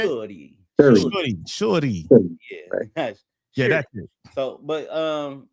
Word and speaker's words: Shuri: Shuri.